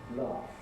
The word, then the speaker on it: laughed: We don't want to know about the spelling, GH, what's the sound? It's a voiceless F sound, so we get the past tense laughed.